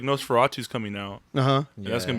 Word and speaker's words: Nosferatu: Because like Nosferatu's coming out, and that's gonna be its whole new thing. Is it pronounced Nosferatu?